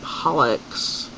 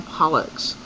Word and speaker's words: Pollux: names are caster and pollocks um amelia you said pollock it's a pollux pollock i think you're thinking of the whitefish and that's p-o-l-l-c-k-u-c-k um but this is caster and pollux um you pronounce that